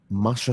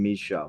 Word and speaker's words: Masha: Masha Slamovich. Masha, there we are. I was saying Misha.